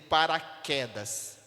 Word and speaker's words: paraquedas: som de duas letras na palavra por exemplo paraquedas para quedas paraquedas não tem o quê e o não tem mas eu não estou eu não estou reproduzindo o sou do u na palavra paraquedas ou quer eu estou reproduzindo apenas o sol do que o tem apenas uma